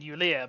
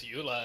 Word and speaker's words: Eulea: Eulea. Alexandria. Wait. Oh, no. I've been reading it as Eula, and whenever I see it, I just think, oh man, terms and agreements.